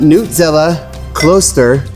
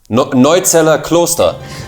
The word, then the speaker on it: Neuzeller Kloster: The Nutzella Kloster, I don't know, did I say that right? No, you didn't. How do you say it? I think, where is it? Neuzeller Kloster.